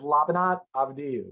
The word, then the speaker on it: Labinot Avdiu: glad you've given me the easy version to pronounce of your name what's the what's the given name full name is lavanat avadyou so from uh from kosovo former yugoslavia albanian